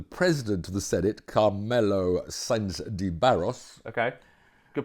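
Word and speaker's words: Sanz de Barros: But as we talked about last week, the Ethics Committee consists of the President of the Senate, Carmelo Sainz de Barros. Okay, good pronunciation.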